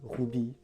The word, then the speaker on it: RWBY: j'ai nommé rwb y mais apparemment ça se prononce rouby ou rubis si on dit en français et heureusement parce que